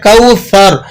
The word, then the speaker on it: کوثر: بول سکتے ہیں، بہرحال اس کا تلفظ ہے کوثر، آپ نے اس کو سا سے ادا کرنا ہے۔ قرآن مجید میں جب